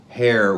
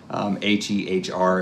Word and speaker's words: Hehr: We're doing this in a 2018 Mercedes Sprinter van, and it's an Hehr window, which is how the guys at RB Components said to pronounce it. H-E-H-R is the how you spell that, Hehr. And it's about 10 inches